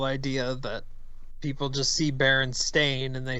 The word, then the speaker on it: Berenstain: Pronouncing those words out, Steen and Stain, when you see that written, it's pretty clearly Stain.